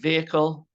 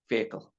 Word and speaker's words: vehicle: last word is vehicle pronunciation vehicle you don't have to worry about the H it's a silent h vehicle all right so I